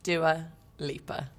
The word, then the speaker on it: Dua Lipa: long story cut short how is dewalieba pronounced doer leaper it's quite easy although growing up i